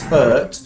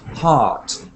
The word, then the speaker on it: heart: So we keep hearing this What? word as hurt, but we want to hear heart. So hurt is a bird sound, and heart is a car sound, like heart.